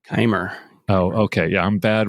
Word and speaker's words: Keimer: And also, uh, is it pronounced Kimmer? Kimmer. Kimer.